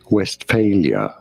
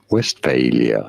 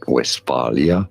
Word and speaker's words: Westphalia: oh good we are looking at how to pronounce the name of this region of Germany in English this is normally said as West failure West failure not West Valia but West failure if you're wondering how this